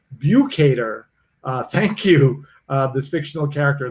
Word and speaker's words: Bukater: look at this everybody's jumping in and it's pronounced view cater thank you this fictional character that too many